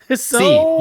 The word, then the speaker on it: Hsi: C, just the C. The H is silent.